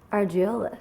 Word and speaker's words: Argiolis: Argiolis.